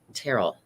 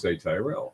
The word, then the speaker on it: Tyrell: But no, I don't understand how they pronounce it. Terrell. It's Tyrell. You want to say Tyrell.